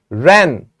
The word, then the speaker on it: wren: Wren, W is silent.